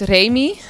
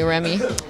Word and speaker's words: Remi: Well, actually, it's pronounced Remi, but in England, they call me Remi.